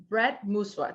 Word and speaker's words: Brett Mooswa: So Brett Mooswa, did I say that correctly?